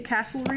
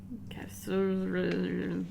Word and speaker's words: Casterly: Brienne is taking Jamie to Castlery Rock at the... Casterly.